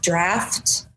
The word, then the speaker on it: draught: ugh t whose dress is actually pronounced draft and it's a British spelling ah and that's uh